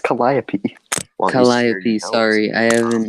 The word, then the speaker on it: Calliope: also in Calliope also had uh notes it's pronounced Calliope shall I be sorry I just acknowledge that